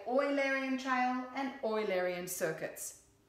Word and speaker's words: Eulerian: and oil Arian circuit it is pronounced oil Arian not Eulerian because the man who it's named after was Leonard Euler and so we say oil Aryan child and oil aryan